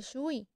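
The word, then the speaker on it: 水: son orales por ejemplo en chino tenemos que así se escribe la palabra agua pero al pronunciarla se dice sui sus tres elementos y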